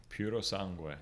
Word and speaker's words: Purosangue: How do you pronounce it again? Purosangue.